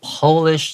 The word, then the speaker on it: polish: A Polish doctor. 这个 Polish 就是指这个波兰的，他是一个波兰的医生 in the late 1800s，好，是在19世纪末的时候创立出来的一个语言。这个地方特别注意一下 Polish 这个字，如果它 P 是大写，它指的是国家的话，我们会念成 Polish。但如果说今天 you want to make something shine，you